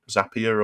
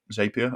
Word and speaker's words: Zapier: then that or um zapier or zapier i think i can have i think the zapier is the british pronunciation um so you can use something like zapier maybe just to take